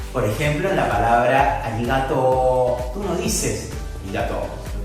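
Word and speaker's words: ありがとう: Esa raya indica que esta O se va a prolongar por un tiempo más largo de lo habitual. Por ello, esta palabra se va a pronunciar arigato.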